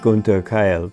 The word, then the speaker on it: Gunther Keil: And usually I pronounce it Gunther Keil, but anyway.